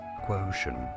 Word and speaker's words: quotient: You do want to stress on the first syllable. Both British and American pronunciations are similar as quotient.